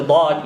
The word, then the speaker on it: ض: of our tongue to touch the teeth or the roots of the teeth with good force.